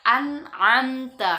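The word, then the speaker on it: أنعمت: Nun mati ketemu ain, masuk hukum izhar, maka membaca nunnya jelas. Maka kita baca an'amta alaihim, an'amta alaihim.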